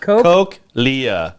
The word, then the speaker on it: cochlea: It's pronounced Cochlea.